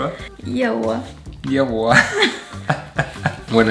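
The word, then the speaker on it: 腋窝: Ye wo (arm pit) Ye wo?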